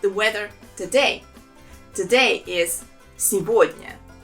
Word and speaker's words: сегодня: Сегодня. There are also 3 syllables in this word, and the second one is stressed. And here the main thing is that the letter G, we pronounce it as V.